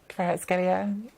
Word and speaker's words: Kvaratskhelia: Nikki and Mina have been trying to help me out with this pronunciation. The Napoli winger that Arsenal could try to sign, Kvaratskhelia. Kvaratskhelia.